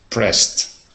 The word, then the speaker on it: pressed: and pronounce that word try and pronounce that with just a t at the end pressed yeah there you go